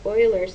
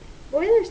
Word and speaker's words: Euler: here is a theorem this is pronounced several different ways I was taught to pronounce it Euler's theorem some people pronounce it Euler's theorem so Euler's theorem